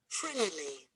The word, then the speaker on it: friendly: You write two, and you underline the first syllable because the stress is on the first syllable. Friendly.